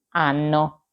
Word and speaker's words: hanno: Noi abbiamo, voi avete, loro hanno. Come avete visto, la lettera H si scrive ma non si pronuncia.